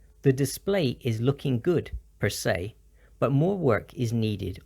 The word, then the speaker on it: per se: or as it is it's pronounced with the s e as if it were the word say so it's per se per se some examples I think